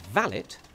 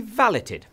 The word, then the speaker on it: valet: getting it valed but it's a French word and is pronounced by them valet so hotels offer a valet service and I would